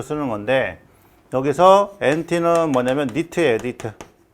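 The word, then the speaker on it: nit: 하나는 이제 NT로 쓰는 거, 자, 또 하나는 이제 SB로 쓰는 건데 여기서 NT는 뭐냐면 니트예요, 니트. 자, 니트고 단위는 이제 제곱미터당 칸델라가 되겠습니다. 그 다음에 SB는 뭐냐면 스틸브라고 읽어요.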